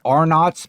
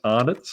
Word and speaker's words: Arnott's: So is Arnott's, is that a big brand there?